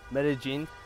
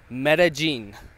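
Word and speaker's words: Medellín: of being away from Medellin or meta-gene actually I learned how to pronounce it is Mary Jean so meta-gene I don't know where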